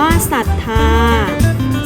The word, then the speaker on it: ศรัทธา: เศร้า อ่าน ว่า เศร้า ศรัทธา อ่าน ว่า ศรัทธา เศรษฐี อ่าน ว่า เศรษฐี